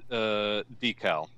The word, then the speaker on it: deckle: feel UK in us both pronounce it decal good i don't know